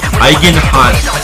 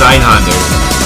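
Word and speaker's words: Einhänder: Eigenhans. Oh, I know Eigenhans. No, it's not that one. Wait, which game? Spell it correctly.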